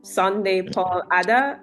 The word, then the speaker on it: Sunday Paul Adah: and CEO of the Pay for Me app, Sunday Paul Adah. Am I pronouncing that Yeah.